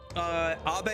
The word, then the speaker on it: Abe: It's also possible that Abe is pronounced as a single syllable. Abe is how they pronounce it in the voice acting, at least.